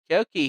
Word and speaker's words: Kyoki: Kyoki here, pronounced like Wokey with a K.